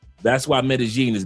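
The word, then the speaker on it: Medellín: But it's technically in Colombia is Medigene with a G sound. Medigene.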